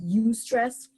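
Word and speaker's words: eustress: a term some use it's called you stress which is spelled eu stress you know and that's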